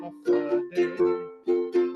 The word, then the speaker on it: Hafa Adai: It's spelled H-A-F-A-I. It's as easy as 1, 2, 3. Just pronounce it as a Hafa Adai.